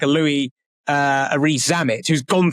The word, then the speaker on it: Louis: to someone like a Louis Rees. Is it Louis or Lewis? How do you pronounce his name? I said Louis. We go either Louis. Yeah, Lewis, I think normally Louis, is what we...